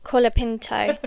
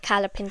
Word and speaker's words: Colapinto: you know what um I think we're saying his name wrong Joe no calapin Franco kapino I think it's Kinto yeah Kinto like um don't call me up on okay we probably are saying wrong name colapinto not calapin British